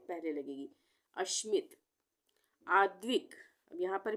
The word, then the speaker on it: आद्विक: से पहले लगेगी अश्मित आद्विक यहां पर भी आद्विक यहां पर भी द का उच्चारण आधा हो रहा है तो